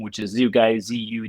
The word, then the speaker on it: Zugaj: play on on Michael's last name which is zoo guy zu g ai. Um, but the uh website here is is spelled Zoo Guy Renovations LLC.